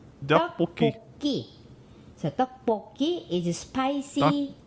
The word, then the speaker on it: 떡볶이: But we pronounce this 떡볶이. Dokboki.